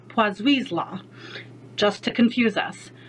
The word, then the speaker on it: Poiseuille: Second is Poiseuille's law. Yes, that's actually how you pronounce it.